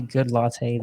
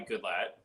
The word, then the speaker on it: Goodlatte: Who is Goodlatte, the man, the myth, the legend? Well, for one, it's not pronounced that way, but it's I get that a lot. It's Goodlatte, and Gotcha.